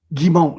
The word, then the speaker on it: Giumont: How do you do you how do you pronounce your last name in French? Is it Gimmo? Gimmo.